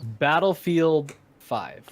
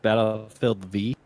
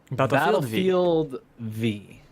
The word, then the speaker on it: Battlefield V: Battlefield 5. No. Who? It's pronounced Battlefield V. Battlefield V.